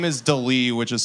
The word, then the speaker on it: D'Lee: Her name is Delee, which is spelled D'LEE.